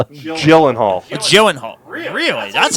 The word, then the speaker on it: Gyllenhaal: yeah and prisoners what the hell did I mispronounce the name again yes Jake Gyllenhaal not Jake Gillen Hall okay okay Jake what the Gyllenhaal joen Hall really that's how you pronounce it yes like